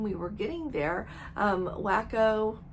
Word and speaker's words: WaCo: were getting there um wacko as they call it it's spelled like Waco wac o um it was the